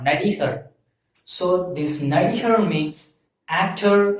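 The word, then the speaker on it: நடிகர்: So this actor represents N-A-D-I-H-A-R, Nadihar.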